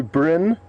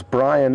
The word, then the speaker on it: Brin: Brent Bigg on and apologies to Brin for pronouncing your name incorrectly as Brian earlier so Bren would like